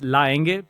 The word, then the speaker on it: Länge: It's a German name. It has the A with the two dots on top, which is why in Germany it's pronounced Länge. And then if you go to anywhere else like Brazil, South America, it's Laenge because we don't have the A with the two dots on top. So it's written AE. So depending on which region of the world, you pronounce it differently.